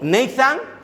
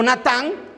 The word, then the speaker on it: Natán: Dios con este nombre, con Nathan, si se hubiera pronunciado en inglés, o Natán, cuando se escribe evidentemente bíblicamente en la lengua hebrea, ¿verdad? Natán.